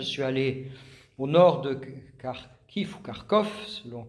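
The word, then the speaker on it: Kharkiv: en Ukraine je suis allé au nord de carkif ou kkovelon prononce car kif et je suis allé voir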